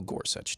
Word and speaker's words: Gorsuch: who did not and his name rhymes with nuch that would be Neil Gorsuch now we did have